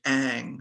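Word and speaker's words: Ingres: is a painting by a french artist named aang his last name is spelled i-n-g-r-e-s in case anybody's interested in looking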